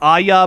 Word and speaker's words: Aja: Yeah, I think it's Aja, but I've heard it Aya before too.